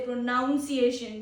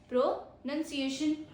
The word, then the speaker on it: pronunciation: N-U-N, none, right? A none. So you can keep in your mind, oh, we don't say pronunciation, we say pronunciation. The way a word is spoken, we are learning about that only. The pro tip is not pronunciation, it's pronunciation.